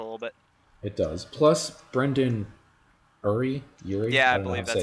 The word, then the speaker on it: Brendon Urie: the heartstrings a little bit it does plus brendon urie you yeah that's how you pronounce it the singer for panic at the